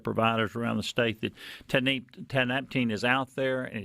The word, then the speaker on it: tianeptine: I pronounce it Tianeptine. It's pronounced a few shades of that, but Tianeptine I think will do.